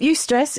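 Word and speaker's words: eustress: Um, you stress is EU stress. That's how it's spelled.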